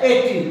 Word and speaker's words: একটি: যাচ্ছে একটি তার মানে কয় নিচে হসন্ত দিতে হবে তুমি একটি বলতে পারবে না একটি এভাবে উচ্চারণ হয় না